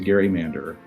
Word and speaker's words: gerrymander: Yeah, conferences and classes, when I'm with colleagues, I'm often the only person who resorts to Gerrymander, but I'm fighting the good fight. I think it's the right pronunciation and it does justice to the person whose name it got attached to.